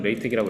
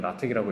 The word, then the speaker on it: LaTeX: 미국 사람들은 레이텍이라고 읽고 이제 유럽 사람들은 라텍이라고 읽는 경우가 종종 있긴 한데 그냥 우리는 미국 영어 쓰니까 레이텍이라고 읽으시면 됩니다.